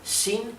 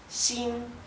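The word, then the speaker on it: 新: el tono alto verdad no es ni Shin ni Shin es Shin a causa de que el tono alto en la i indica que se pronuncia así sin esto significa nuevo ven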